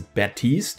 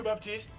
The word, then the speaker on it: Baptiste: Now, this is kind of a strange decision for Blizzard to go through with, because the actual French name is pronounced without the P as Baptiste, which is how I've been pronouncing it.